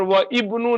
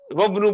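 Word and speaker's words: وابن: है और यहां पर व इबनू नहीं पढ़ेंगे व इबनू वबनू पढ़ेंगे वन हामिल ये साइलेंट हो जाएगा ये साइलेंट हो जाएगा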